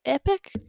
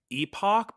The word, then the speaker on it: epoch: The Unix Epoch Epoch how do you pronounce Epoch epic epic uh that's one of those words I read a lot and I in my head say Epoch but that doesn't sound right at all so it